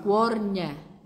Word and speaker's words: Cuornie: Cuornie. La parrocchia si chiama San Dalmazio, ma il paesino Cuornie. Cuornie. Cuornie. Cuornie. Cuornie. L'accento sulla E.